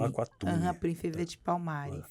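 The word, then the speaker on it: Aqualtune: Então se pronuncia Aquatune. Aquatune.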